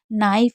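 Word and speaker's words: knife: नाइफ में आई को आई पढ़ा जा रहा है और के साइलेंट रहता है शुरू में अगर के एन होता है तो।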